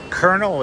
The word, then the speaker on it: Colonel: And it's like, Colonel is hard to translate, just how it's spelled. The C-O-L. Colono is what it looks like, but yeah. I guess Colonel, people kind of expect that would be Colonel, like K-E-R-N, like popcorn kernel.